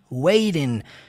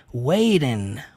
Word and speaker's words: waiting: som de T não o inglês americano tem essa característica de suavizar mais o som do T né pronunciando com um sonzinho do R wayden Waiting Ok percebe ele